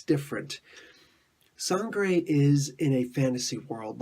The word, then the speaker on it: Sangre: I just got finished reading Sangre. Now, I'm pronouncing it the Spanish way because that's what I know best.